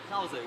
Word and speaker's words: Krauser: So Finn, how do I pronounce his surname? Krauser? Krauser, yeah. Krauser, yeah, okay. To me, that would be like Cruiser, which is like the perfect person to have in.